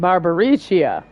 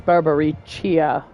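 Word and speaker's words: Barbariccia: your baba reach you barbaricia I was totally saying her name wrong apparently the CC sounds like a CH so it's Barbary chia I keep pronouncing it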